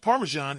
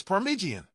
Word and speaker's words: Parmesan: Yet, a few defenders claimed it looked downright delicious, even as Meghan repeatedly called the pasta noodles and playfully mispronounced Parmesan as Parmigian. With such lively discussions and creative culinary experiments, the story is far from over.